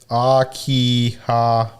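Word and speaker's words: 秋葉原: Robbie says Akihabara. Thank you, Robbie. Oh, I was saying it wrong.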